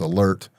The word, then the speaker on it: ALERRT: I'm an instructor with Alert. It's spelled with two R's, ALERRT.